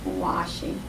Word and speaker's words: washing: word when you're washing because it's the SH sound washing I want to say